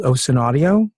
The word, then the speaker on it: ocenaudio: It's called OSEN Audio or OSEN Audio uh spelled like ocean as you're seeing on my screen if you forget the A.